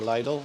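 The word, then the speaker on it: Lidl: that they sell in little or lydle wherever you want to pronounce it and uh my missus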